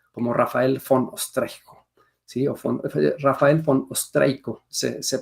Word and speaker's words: Raphael von Ostrejko: Rafael von Ostreico se pronuncia, y se considera el inventor del carbón activado.